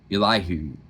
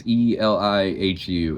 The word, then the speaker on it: Elihu: Today we're going to be talking about a guy named, all right, the way you say his name is Elihu. It's Elihu, and we're in the book of Job.